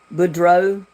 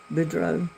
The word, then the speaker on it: Boudreaux: Boudreaux, because the X is not, it's a silent X. Boudreaux.